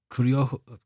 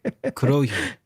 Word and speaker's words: Kurohyo: So fan group Team K4L have announced that their English translation of the 2010 Yakuza game, PSP title spin-off Kuryo. It's a hard word to pronounce. Kurohyo.